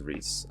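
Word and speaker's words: Rhys: too bad good Reese I've been told you pronounce it as Reese I know it's at risk during the let's play with mags I'm just so used to saying wrists because of the shadow dragon dude so you ought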